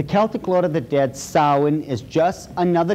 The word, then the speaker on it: Samhain: as if it's saying samhain or something like that no no no no this is properly pronounced in the ancient gaelic as sowen sowen according to occult